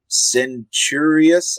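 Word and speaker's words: Centurious: World um and they've I cannot pronounce this character's name uh centurius I believe is how you say it um was the character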